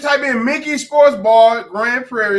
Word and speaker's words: Grand Prairie: I'm saying it right, Grand Prairie, because I'm a little country. Prairie, not Perry.